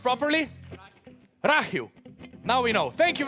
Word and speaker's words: Rakhiv: What is the town pronounced properly? Rakhiv.